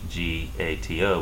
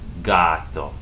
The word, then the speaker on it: gato: For example, the word for cat, which in English is C-A-T, in Spanish G-A-T-O, would be G, like gato, gato.